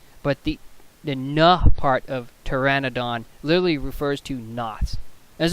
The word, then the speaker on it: Pteranodon: for why that is but the the correct pronunciation is Pteranodon so this part here the no part a